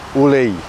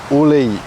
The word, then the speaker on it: ulei: You have the E in the middle, ulei. Where people most of the time mispronounce this one is that last part of the I, so it's actually a mix, yeah? But ulei, yeah? A lot of people say ule, don't say that, but ulei.